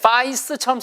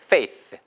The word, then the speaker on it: faith: 이게 생긴 게 파이스처럼 생겼잖아요. 파이스 아니에요. 파이스가 아니고요. AI가 되면 주로 페, 페, 페이, 페이처럼 발음돼요. 해보세요. 페이스, 페이스.